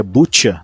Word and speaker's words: Bucha: essa ideia o massacre em bucha que se pronuncia butcha né Vamos tentar falar certinho buta é uma cidade